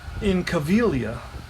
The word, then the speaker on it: Incaviglia: All right, so Pete Incaviglia, okay? Pete Incaviglia, an Italian name, not easy to pronounce. I think the G is silent.